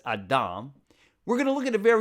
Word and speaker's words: Adam: In Hebrew, by the way, we pronounce it as Adam.